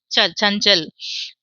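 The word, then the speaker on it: चंचल: வர்க்கத்தினுடைய கடைசி எழுத்து ஞ ச ஞ்ங் அந்த ஞாக்கு புள்ளி வச்ச மாதிரி ங்ன்னு படிக்கணும் ச ஞ் சஞ்சல் பி மேல புள்ளி இருக்கு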